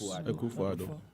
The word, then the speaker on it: Akufo-Addo: What's your take on, I don't want to mispronounce his name, President Addo? Yes, Akufo-Addo.